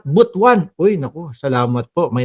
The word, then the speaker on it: Butuan: Oh Butwan ah ganun pala. Sabi ni ma'am Noen Cortz Gomez, "Boss Mark, clarification butuan is pronounced at botuan."